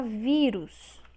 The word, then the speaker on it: vírus: Temos a palavra sótão. Sótão. Separamos dessa forma. Sótão. A sílaba tônica, ou seja, a sílaba que tem mais força, é a penúltima.